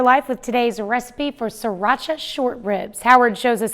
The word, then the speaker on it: Sriracha: It's actually pronounced Sriracha, but most of us just say Sriracha.